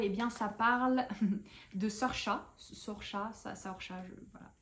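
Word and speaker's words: Saoirse: Eh bien, ça parle de Sorcha. Sorcha, voilà. C'est le prénom un peu bizarre, vous savez, qui s'écrit Saorse.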